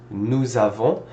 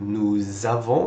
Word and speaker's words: nous avons: starts with a vowel, usually what we will do is we will link these two together with a Z sound to make it sound like nous avons instead of nous avons, two separate words.